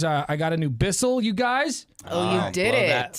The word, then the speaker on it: Bissell: to vacuum cuz uh I got a new Bissell, you guys. Oh, you did. That whistle did it. We were talking about vacuuming, you know, and and a lot of I I had more listeners recommend Bissells.